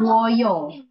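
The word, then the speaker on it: 봐요: Bacanya bomnida. Jadi Pom, pakai M. Bomnida. Oke. Sekarang yang yang informal. informalnya Boyo.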